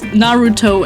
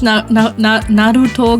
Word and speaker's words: Naruto: time was to produce Naruto AMVs. Play orders decided based on who would produce the most emotional, heartbreaking, epic Naruto AMVs. Schwierig. Habe ich Naruto gerade Englisch ausgesprochen? Naruto. Shame on me.